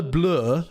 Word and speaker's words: bleu: And it would be aller le bleu, so bleu doesn't rhyme with coup.